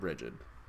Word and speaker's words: Brighid: I've heard her name pronounced many different ways, but I've met a Brighid, and she pronounced it Brighid, so I'm pronouncing it Brighid.